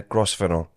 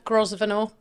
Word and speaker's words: Grosvenor: And your friend is in the hot seat today, Grosvenor. Is that how you say your second name? Yeah, you can say it like that. Yeah. Grosvenor.